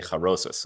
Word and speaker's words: charoset: By the way, the joke about charoset of the liver works even better if you pronounce it the Yiddish way and say charosis of the liver.